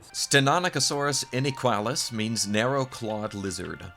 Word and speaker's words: Stenonychosaurus: And last but not least, the Seninoaurus. I don't know if I said that right. Spino, tell me about this guy and correct my pronunciation, please. Stenonicosasaurus Iniqualis means narrow clawed lizard.